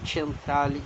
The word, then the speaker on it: Centrale: na Milano Central é na verdade é centrale que é pronúncia italiana Eu morei lá e